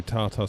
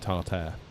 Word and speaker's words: tartar: I used to work with a guy who would say tartar sauce for his entire life till he was about like mid-20s. He would pronounce it tartare, and no one told him.